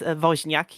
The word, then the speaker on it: Woźniak: And yeah, although they pronounced the Janusz right, they absolutely did botch the surname. It's it's Woźniak, yeah. Ah.